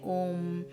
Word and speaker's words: ओम: आप इसे अपनी जीभ हिलाए बिना ओम का उच्चारण करने का प्रयास कीजिए। ओम के 3 तत्व अ, उ और म हैं, जिन्हें वेदों से लिया गया है और तीनों वर्ण परम ब्रह्म को दर्शाते हैं।